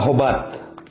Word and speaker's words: hobat: Yang pertama itu biasa disebutkan kata hobat. A-nya panjang. Iya, A-nya panjang. Hobat begitu.